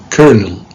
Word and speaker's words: colonel: how about number four how do you pronounce this word take care colonel colonel smith in the u.s english it's kernel okay so kern smith built